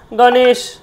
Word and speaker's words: গণেশ: উদাহরণ দেখতে পাচ্ছেন সবাই গণেশ গার মর্ধন স মধ তালব এটা তালব তাহলে গণেশা উচ্চারণ গণেশা তাইতো উচ্চারণটা হবে কি গণেশা গণেশ বলব না কিন্তু গণেশ গণেশ নয় গণেশা কি বলব গণেশা দেখুন গ এ তাহলে